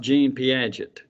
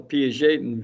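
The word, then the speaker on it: Piaget: from Jean p p i a g t pronounced p j a n that's not Jean pet it's he's Swiss I think I don't even remember Jean p and his view is obviously called the P Jon View and he talks about changes uh in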